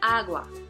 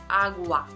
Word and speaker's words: agua: on app which brown as wat as an agua ah wah agua agua agua agua so the next step song